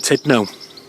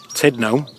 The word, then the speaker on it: Tudno: we've stopped here at the Church of St Tudno. I've been calling him St Tudno for ages, but it's actually pronounced St Tudno.